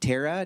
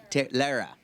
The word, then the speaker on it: Lara: So, we have, is it Tara? Tara. Lara. I said rhymes with Tara.